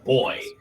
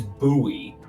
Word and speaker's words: buoy: well so apparent so apparently depending on where you live you do say boy but guess what I'm from New England where we say it correctly which is buoy I also say buoy